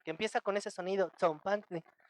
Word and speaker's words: tzompantli: Tenemos TS, que no es del español, pero es muy fácil de hacer porque es el mismo que tenemos en la palabra pizza, nada más que acá la tenemos en palabras como tzompantli.